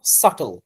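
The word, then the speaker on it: subtle: ক্লাসে একটা স্পেলিং দিয়েছিলাম সাটল যেখানে আপনারা অনেকে সাবল সাবল বলেছিলেন স্পেলিংটা রাইট সাটল তারপর আপনার সাউন্ডের সাথে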